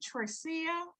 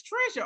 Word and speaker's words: Trisha: I want to say, is it Tricia? Is that the way you pronounce your name? Trisha? Oh, that's Trisha. Oh, honey, I done gave you some extra syllables.